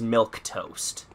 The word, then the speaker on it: Milquetoast: or doctor trouble childhood the beginning one is milk toast but it's spelled with AK you okay yep ten